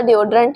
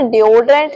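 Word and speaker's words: deodorant: बट इसे डोडरेंट नहीं बोलते। हम इसे बोलेंगे डडरेंट। डड्ररंट। सो ए एन टी लगा तो अंट का साउंड देंगे एंड अगर ए टी ई लगा तो इट इट का साउंड देंगे डड्रंट ड्रंट नेक्स्ट इलेक्ट्रिशियन हम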